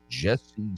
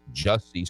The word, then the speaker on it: Jussie: Speaking of felonies, Jesse Smollett, or it's actually pronounced Jussie Smollett. Everyone says Jesse, but it's spelled J-U. So I'm saying it's Jussie.